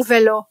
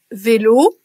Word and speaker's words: vélo: exemple euh le haut on va très souvent entendre des Belges francophones prononcer mon velo je sais pas si vous l'avez entendu avec un e qu'on aurait par exemple dans Port dans Port vous avez un haut qui est plus ouvert que dans pot H euh donc là où on prononcerait en français de France en français standard vélo euro on va entendre vélo et euro donc oui il y